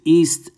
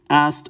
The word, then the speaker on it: Isis: very common all right isis is really pronounced it can be pronounced many ways east ast or just but generally it's well known as being i'm just going to do the transliteration ast so her name is